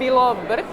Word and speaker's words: Bilobrk: Can you pronounce your last name for me so I say it properly? It's Bilobrk.